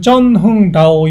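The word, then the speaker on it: Trần Hưng Đạo: 이 갖다가 이제 여기는 베트남어로는 쩐흥다오 이렇게 발음이 돼요.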